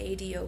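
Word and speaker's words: ADO: gonna go to the a do bus station here it's pronounced I they owe to take my bus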